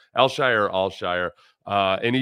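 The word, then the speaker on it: Al-Shaair: is pronounced that way it's not pronounced anything like it's spelled it's alshire alshire or alshire uh and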